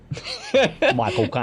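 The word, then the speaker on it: Michael Caine: Oh, um, Michael Kane. Michael Kane. Yeah. I always remember it because you pronounce it like you're saying my cocaine. Michael Kane.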